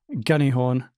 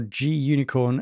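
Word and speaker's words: gunicorn: prompt for the uh gunny horn candy corn um or g unicorn however you want to call this uh normally it's uh pronounced in those two different ways so we're going to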